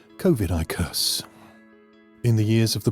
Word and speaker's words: Covidicus: taken from the mythical book of covidicus pronounced kovidicus in the years of